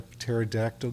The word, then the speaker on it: pterodactyl: Do you want to know why you can't hear a pterodactyl go to the bathroom? I don't know if I want to hear this. Because the P is silent.